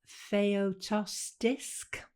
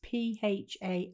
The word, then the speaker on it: Phaistos: Well, leading on from that, there's, I don't know how you pronounce this, Phaeotostisk. It's Phaistos.